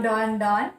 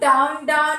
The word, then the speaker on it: Dawn: So that was the, instead of Down, Down, it was Dawn, Dawn, because that is how his name is spelled, D-A-W-N.